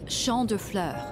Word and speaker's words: Champs de Fleurs: It's Champ de Fleurs. It means field of flowers.